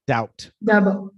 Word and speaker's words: doubt: So silent B, doubt.